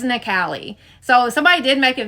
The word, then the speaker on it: Nikale: People keep calling you Natalie. It's Nali.